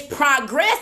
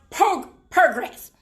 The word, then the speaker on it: progress: So it's progress, and it can be pronounced progress.